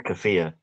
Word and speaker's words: keffiyeh: I don't know how to pronounce that word. I believe it's Kafia.